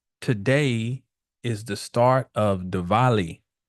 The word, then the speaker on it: Diwali: This is a special day, a special week, because today is the start of Diwali. It's spelled Dwali, but the Diwali, Diwali festival, the festival of lights.